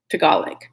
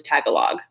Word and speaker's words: Tagalog: So I thought for 1 billion years that it was Tagalog. And so sometimes when I hear Tagalog, I have to like stop myself and be like, Tagalog. No, it's Tagalog.